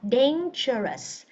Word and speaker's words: dangerous: most Chiang đúng không rất nhiều bạn này là sai mình đọc là dangerous dangerous Ok Dangerous rồi The Lion IS the most dangerous animal in this Ok âm không phải là du ha không phải là Du mà là ok rồi Câu thứ